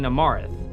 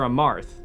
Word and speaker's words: Amarth: As you head across the chasm, you see the Paragon of Courage fighting Amarath. Amarth. I've been saying his name wrong the entire time.